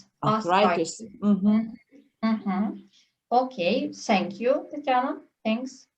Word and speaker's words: arthritis: Читала артритис, а потрібно? Arthritis.